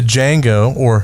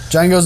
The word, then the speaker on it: Django: We have the Django Unchained. The D is silent. Yippee D is indeed silent.